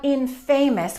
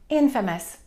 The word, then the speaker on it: infamous: Be careful about that word. It's not infamous. We have the word famous, but this one we stress the first syllable, infamous.